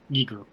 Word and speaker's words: Giger: got it it's jiger or hard G yeah Giger so I guess he was uh getting ready